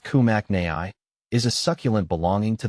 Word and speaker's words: Peperomia kimnachii: is a peperomia kimachi the pepp Oma kimachi pronounced kumak Nai is a succulent belonging to the peperomia genus